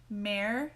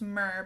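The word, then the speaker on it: Mehr: is in the shade mayer and it may be pronounced myrrh but i've only ever heard it as marin it is a beautiful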